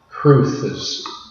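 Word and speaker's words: crwth: is another Welsh word it's see our WTH cruces of the word and I believe it's an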